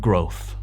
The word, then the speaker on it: growth: Our journey had surprises, challenges, and lots of growth. Growth. Difícil de pronunciar. Grow, crecer. El sonido TH de nuevo.